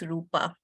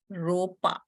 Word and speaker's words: Rupa: very kind Mentor somehow cannot pronounce Rupa she calls me ropa now you tell me is Rupa difficult for you okay and my last